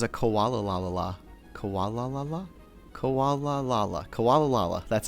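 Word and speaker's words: Komala: Koala La La?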